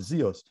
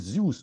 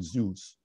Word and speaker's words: Zeus: Z-E-U-S is not Zeus. It is Zeus because it is Greek derived and it maintains the Greek pronunciation Zeus rather than Zeus.